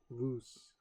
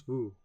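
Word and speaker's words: vous: The first word is voose. Oh, pronounce vu.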